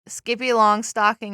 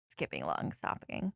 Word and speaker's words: Skippy Longstocking: 2 left are yeah, Skippy Longstocking and Freedom Runs. skipping long stopping. No. Long stopping. I said every single syllable of that word incorrectly.